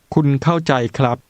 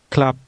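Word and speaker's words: ครับ: the polite masculine ending Club Club the masculine ending is pronounced with a high tone which starts at mid-level and Rises now paying attention to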